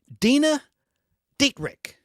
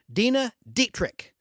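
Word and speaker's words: Dena Dietrich: I don't know how to pronounce her name. Dina Dietrich. Do you know who that is? Dina, D-E-N-A, D-I-E-T-R-I-C-H. Dina Dietrich.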